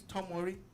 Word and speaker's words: Tomori: hairy guess what um fikayo tomori plays for chelsea his name is tom murray yeah how is he